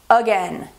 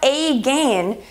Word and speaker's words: again: So listen to the word, again. It's not a gain, it's again.